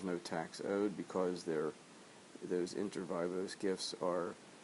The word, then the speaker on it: inter vivos: the second class we figured out the actual pronunciation of the word for lifetime gifts, and that is inter vivos, lifetime gifts, as opposed to gifts at death, which are called testamentary gifts.